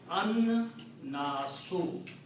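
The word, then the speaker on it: الناس: And in the tajweed rule, when lam and noon are together, you do not pronounce lam, but pronounce noon twice. So the word becomes an-nasu.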